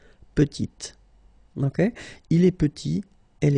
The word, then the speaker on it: petite: Final T is not pronounced, and then when you add this E at the end, you get the sound T, petite.